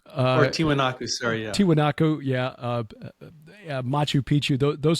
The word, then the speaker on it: Tiwanaku: build the the megalithic sites like um uh Tiano not pronouncing correctly I'm sure Tian yeah I'm conflating with tootaki the end of the world as we know it anyway uh or tiwanaku sorry yeah tiwanaku yeah Machu Picchu th those sites like that